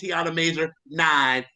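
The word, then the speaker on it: Tiana Major9: was like well y'all I pronounced it wrong the first time is Tiana major nine and I said how'd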